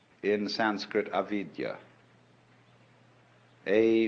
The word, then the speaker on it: avidya: bound fascinated and this is called in Sanskrit avidya a v i d y a Vidya is